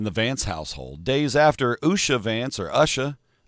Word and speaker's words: Usha: Days after Usha Vance, or Usha.